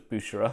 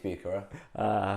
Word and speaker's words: Bucherer: I thought it was Bucherer, I thought it was Bucherer, but apparently it's Bucherer.